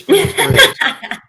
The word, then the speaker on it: Briggs: Yeah, people mess up mine all the time. They said it's shit. And no, it's pronounced Briggs.